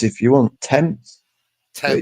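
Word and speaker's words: Thames: Tems. But that's that's how it's pronounced. Tems. So, I just think T E M Z.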